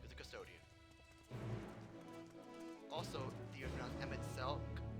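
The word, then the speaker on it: Emet-Selch: Also, the Emmett Selk, it's a hard K, not a H. Emmett Selch?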